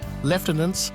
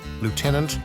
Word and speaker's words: lieutenant: However, Leftenants still holds a special place in British culture, symbolizing a connection to the past and a distinct national identity.